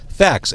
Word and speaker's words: FACS: It is your sixth album, Fax FACS.